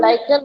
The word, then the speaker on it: lichen: lichen, why are you saying lichen? I read the question out, isn't it? I said, what is lichen? Then how you should pronounce? Lichen.